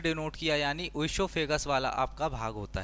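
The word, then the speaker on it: oesophagus: ओसोफेगस। यह जो ओ है साइलेंट है।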